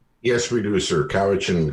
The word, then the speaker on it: Cowichan: you do say north kowa chin is that correct yes we do sir cowhitchin comes from a coast salish word uh coaxin which means